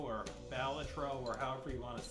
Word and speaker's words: Balatro: It's your boy playing some early game Batro or Baltatro or however you want to say it. It's actually pronounced Batro.